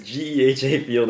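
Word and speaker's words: GEHA Field: think I don't know it's in it's at Gaya field it's at what it's a the new it's a it's G field GHA it's not GHA that's that's how they pronounce it Madden it's Gea field at Arrowhead Stadium Okay g field at Arrowhead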